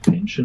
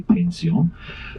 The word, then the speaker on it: Pension: If you see the inscription pension somewhere, yeah, you would pronounce it pension, but we say pension.